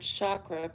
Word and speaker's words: chakra: In Sanskrit, the language of the ancient Indian seers who first identified these energy centers, the word chakra, pronounced chakra, means wheel or circle.